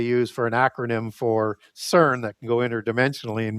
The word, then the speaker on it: Cern: as a two-horned god, and Cern as you get that into the Etruscan pantheon, also pronounced Kern with a K, it's pronounced Hmm. both ways, and that's Proto-Indo-European for two-horned god.